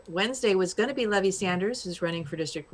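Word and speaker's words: Levi Sanders: But yeah, you did hear that right, Levy Sanders. Yeah, Levy Sanders, son of, and we're saying it right.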